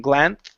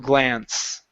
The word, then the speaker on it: glance: bit here I think it may be that uh s sound at the end after the N um yeah it's a it's a little tricky to jump into that s it's turning it sometimes it turns into a th sound saying glan okay but yeah instead of glance okay so but your